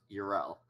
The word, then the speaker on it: Yrel: No, Yrel. It's pronounced Uriel.